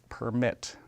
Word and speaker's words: permit: 2500 permitted and then I'll say that word one more time with a slightly different pronunciation permit right as in that's how many we allow that's how many we provide permission for and there are so